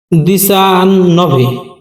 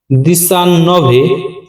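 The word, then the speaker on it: diciannove: this অত্য মানে 18 পরবর্তী সংখ্যা 19 এর উচ্চারণ দিসান নভে দিসান নভে বা নোভে যে যার মত উচ্চারণ করো মানে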